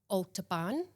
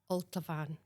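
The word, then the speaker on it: Altabhaine: So again, the temptation is to say ultan, but it's alt van. Alteran b is a right. Okay. So alter alt van.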